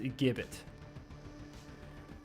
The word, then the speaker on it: gibbet: It's a gibbet. It's pronounced gibbet.